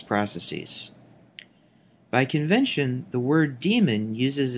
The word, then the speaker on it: daemon: by convention the word daemon uses its archaic spelling here with an AE in place of the e in the modern spelling however the pronunciation is the same daemon is incorrect even